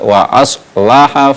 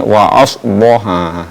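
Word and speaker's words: وأصلح: Jadi perlu diperjelas ee sifat dari huruf alif yaitu istifal wa aslaha faaj tidak boleh membacanya wa asoha wa aslaha.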